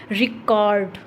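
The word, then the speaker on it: record: Pronunciation रहेगी वो रहेगी रिकॉर्ड, रिकॉर्ड। ठीक है, तो री पर क्या हो रहा है, स्ट्रेस आ रहा है।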